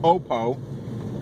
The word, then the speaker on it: Oppo: I did realize it is actually pronounced Oppo when I called them to get some tech support questions.